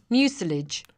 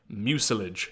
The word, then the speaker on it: mucilage: Mucilage. Mucilage. Okay, so that's how that's pronounced.